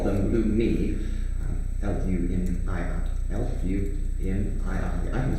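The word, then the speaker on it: Lumii: Ah, yes, this is a Luma, or as we call them, Lumi. L-U-M-I-I. L-U-M-I-I. I can spell it, I promise.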